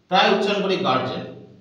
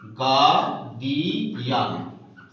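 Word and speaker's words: guardian: যেমন আমরা প্রায় উচ্চারণ করি গার্জেন, এই উচ্চারণটাও ভুল। গার্জেন এটি সঠিক উচ্চারণ নয়, ইট ইজ রং। যেহেতু ডি আছে, ডি এর আগে আর আছে, আরটা হচ্ছে এখানে সাইলেন্ট, ফলে এখানে উচ্চারণটা হবে গার্ডিয়ান।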